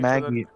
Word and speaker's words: Maggi: No, Maggi's Maggie. Well, first of all, it's a Hindi word that y'all have translated to English. And second of all, Maggie's how you're supposed to say it.